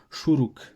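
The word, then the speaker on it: שׁוּרוּק: se prononce différemment mais le son de la voyelle ne change pas c'est toujours le son ou donc là en fait maintenant c'est le Chourouk donc vous voyez dans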